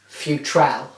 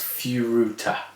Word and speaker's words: Furuta: At the time, I remember everybody calling the Japanese lucky boxes Futrell. Yes. Now, I know that is not how the word is said. Yeah. How do you say it? It's Furuta. Furuta.